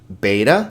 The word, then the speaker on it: beta: Beta sounds like ba.